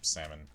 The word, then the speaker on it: salmon: okie dokie then yes I know it's pronounced salmon like Viet heard me do that she's like you know it's pronounced salmon yeah I know I'm just